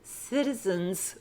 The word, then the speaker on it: citizens: That's why I said citizens with an S on the end, and it's pronounced Z.